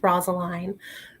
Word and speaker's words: Rosaline: is about Benvolio, and there's so many stupid ways you can pronounce her name. I usually go with Rosaline. You can say it however you want, and it's darn good.